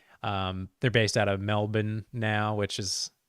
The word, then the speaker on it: Melbourne: which is how you you say that not Melbourne like uh most Americans it's Melbourne um one of the few words that sounds like it has an Australian accent baked into it if you say it properly so that's fun um